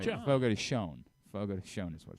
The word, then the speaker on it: Fogo de Chão: Fogo de Chão.